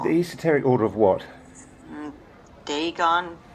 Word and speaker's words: Dagon: esoteric order of what dagon dargan i don't know how you pronounce it there's a masonic hall here yeah it's dagon some kind of mesopotamian